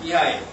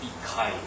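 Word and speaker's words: Михаил: 그 이야기에 등장하는 미하일. 이게 러시아 발음으로 미하일이죠. 영어로 이야기하면 미카일 뭐 이렇게 되고 마이클 나오고 미켈란젤도 뭐 이렇게 나옵니다.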